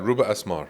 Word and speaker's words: Rouba Asmar: Uh, Ruba Ruba, am I pronouncing right? Ruba Asmar, right?